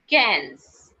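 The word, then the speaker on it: quinze: q u i n z e which is pronounced as guys cans cans which is pronounced as cans cans okay after 15 the next number is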